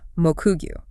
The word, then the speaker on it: Mokugyo: It is strictly read as Mokugyo.